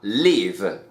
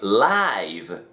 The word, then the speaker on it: live: Como verbo sería live. Por ejemplo, I live in New York. I live in New York. Es decir, vivir. Pero como adjetivo estamos hablando de live, como en vivo.